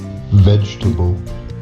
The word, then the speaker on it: vegetable: c um but sometimes we get silent syllables it's a little bit tricky so let me show you so for example here miserable can i hear miserable miserable miserable vegetable vegetable veg vegetable how